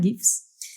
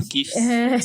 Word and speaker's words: GIF: No alto-falante lá pra ver a pronúncia, no dicionário fala GIF. Então, assim, eu tô entendendo, porque realmente o criador fala que é GIF, né? Mas parece que ambas são aceitas, né?